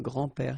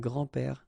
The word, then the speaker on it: grands-pères: Okay, so it's not really difficult, and especially if you think about that, you don't pronounce this s, so actually phonetically it's the same, grand-père here and grand-père here.